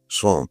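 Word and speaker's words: sans: s A N as I think in French is pronounced song.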